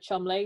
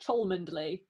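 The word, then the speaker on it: Cholmondeley: going to stumble over the word chumley which you wouldn't think i would but it's because it's it's spelt c-h-o-l-m-o-n-d-l-e-y so it's spelled chalmunderly but it's cool why didn't you just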